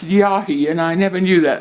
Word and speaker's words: Yhi: it's um it's an aboriginal word and it's pronounced yahi and i never knew that and it's an